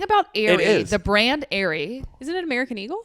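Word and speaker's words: Aire: son's name go Airy it's actually Airy it's spelled Airy like the bras that's what I heard like the the priced bra line Airy is it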